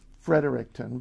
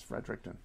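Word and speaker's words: Fredericton: New Brunswick is frederickton I suppose you could say frederickton but it's frederickton um mind the spelling the smallest province in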